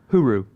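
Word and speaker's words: hooroo: Huru. Yeah, I'm gonna. Like my hooray? vote is like it's like hooray. Yeah. My bet is that Scooby Doo is the spokesperson for Hulu over there. Huru.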